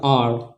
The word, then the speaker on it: hour: दूसरा अगर हम लोग देखते हैं HOUR, तो इस वर्ड में भी हम लोग देख रहे हैं कि H के तुरंत बाद एक वॉवेल आया है, तो इसमें भी H का प्रोनाउंसिएशन नहीं होगा, इसका हो जाएगा R, है ना, क्या हो जाएगा?